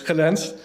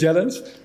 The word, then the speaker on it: Gelens: So it's Gelens, in English Gelens, and it's Schiphol, but it's very difficult to pronounce in English, but very good.